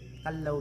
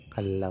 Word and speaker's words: Callao: So ang cave natin sir ang pangalan po niya ang correct pronunciation ng cave natin ang name niya sir kallaw. Cave siya kallaw. Yun yung proper pronunciation.